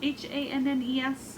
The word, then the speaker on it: Hannes: I am knitting on the Dreaming in a Field of Wildflowers wrap by Lisa Hannes, Hannes is how you pronounce it.